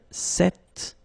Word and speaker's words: cet: So it's quite interesting because if you listen carefully, the masculine form here, cet, and the feminine form here, cet, you write them differently, but then you pronounce them the same way.